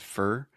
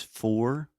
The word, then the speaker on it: for: which is interesting because it actually said fur but most language teachers will tell you the correct pronunciation is for like or more Etc